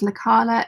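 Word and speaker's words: Lekala: Caroline says to Lisa it's La Carla it's spelled like that except it's an e not an a l e k a l a uh JoJo says oh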